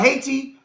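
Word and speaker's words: Hayti: Look up Haiti, Missouri. Look up I Missouri is spelled H A Y T I.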